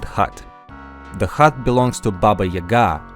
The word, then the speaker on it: Baba Yaga: The hut belongs to Baba Yaga, or Baba Yaga as most English speakers pronounce it.